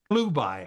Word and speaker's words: Chelubai: Okay, and Chelubai, if you take the CH and pronounce it as a K, it's Klubai, okay, which is close to Caleb.